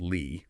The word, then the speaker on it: Lie: Remember, pronounced Lie, like the name.